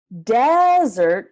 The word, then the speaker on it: desert: desert desert so the stress is how you can tell which word it is desert desert desert desert desert is the place that's really dry and hot and there's not a lot of water desert he's like cake ice